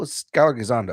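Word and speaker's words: Skyler Gisondo: Skyler Gazando, that's how you pronounce it, right?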